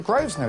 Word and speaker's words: Grosvenor: things I see we've got the name the Groves know it sounds polish you don't pronounce the earth first now would you do